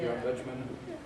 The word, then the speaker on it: John Betjeman: I don't know if I can even pronounce his name. Is that how you say it? John Betjeman? Yeah. John Betjeman.